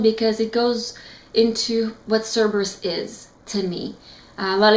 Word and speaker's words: Cerberus: I'm not gonna spoil anything, but if you want to know more about Cerberus, and I'm saying it right today, Cerberus, and I definitely think you should get this one.